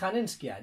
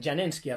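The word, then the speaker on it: Janenschia: años refirió a Hanenskia, ya no es Hanenskia, Janenskia realmente, pronunciado correctamente. Mr. Pedante aquí.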